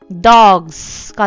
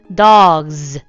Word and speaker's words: dogs: 예를 들어서 dog, g 울려 안 울려? 울리지. 그래서 s를 붙였을 때 dogs가 되는 게 아니고 dogs, z.